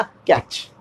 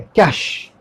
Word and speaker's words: cache: CACHE हम लोग बोलते हैं क्या? कैच। CACHE हम बोलते हैं कैच? नो, बहुत सिंपल है, कैश। कैश, कैश पैसा, मनी, उस तरह से कैश, कैच नहीं, कैश।